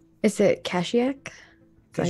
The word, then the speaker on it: Kashyyyk: Is it Kashiak? Is that how you say it? You're currently in, you're with Bryn right now, But Yeah, tell him, I know. Yep. Is it in Kashyyyk? Kashyyyk? Kashyyyk, okay.